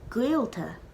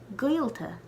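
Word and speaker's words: gaolta: try to say guilta but without moving your lips that's the best way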